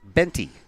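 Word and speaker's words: Boente: high spell's her last name b-o-e-n-t-e and it's pronounced benty sophia digs in from the right side no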